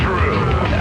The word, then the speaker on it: Drew: My name is Drew. Pronounced with the who.